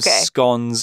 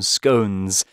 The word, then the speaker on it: scone: How you pronounce this word probably depends on where you come from in the UK. There is a big debate whether it's pronounced scone or scone. You can say whichever you like.